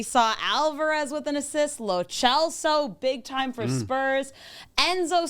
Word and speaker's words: Lo Celso: But it's Lo Celso, and that's the only way it should be pronounced. I'm sticking with It Lo is. Celso. I've been calling Lo Celso since he came to Tottenham. It's Italian, so the CE is a ch sound.